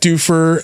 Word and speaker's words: Duffer: Yeah, it's Duffer. It's the Duffer brothers. Yeah, Duffer. Yeah. That's who the fuck they are. They're the Stranger Things guys. That's how you pronounce it.